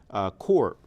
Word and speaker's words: corps: If you take the French-derived word corps for Marine Corps, C-O-R-P-S, we pronounce it without the S.